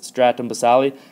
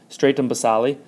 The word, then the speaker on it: stratum basale: weird but it is stratum basale and actually sometimes you might hear this word with a long a sound called stratum stratum basale otherwise known as stratum